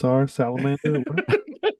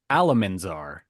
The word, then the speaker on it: Alamanzar: Well, let's check on Salamander. It's okay, Oliver, because I said it wrong. It was actually Alamanzar.